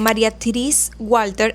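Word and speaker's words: Marie-Thérèse Walter: El punto de ruptura llegó cuando la relación con María Teresa, o vamos a decirlo, María Therese Walter, así se dice en francés, pero le vamos a decir María Teresa porque me cuesta mucho pronunciarlo.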